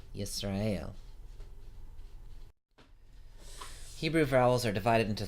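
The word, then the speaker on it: ישראל: to left and top to bottom you say yes Rael yes rayul Hebrew vowels are divided into three classes the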